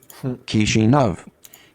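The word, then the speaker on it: Chișinău: Chisinau.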